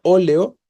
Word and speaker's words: óleo: en vocal óleo no la palabra oleo tiene tiene tres sílabas y la tónica es la antepenúltima o le o no